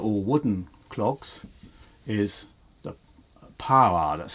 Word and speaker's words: paroir: The other one you get in France for making sabots, which are all wooden clogs, is the paroir. That's spelled P-A-R-O-I-R.